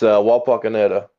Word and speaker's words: Wapakoneta: It's Wapakoneta, or Wapak for short.